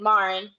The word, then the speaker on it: Maurin: Yes, you did, Maurin. Okay. I love it. It is like Lauren. I even wrote this in here. It is like Lauren with an M.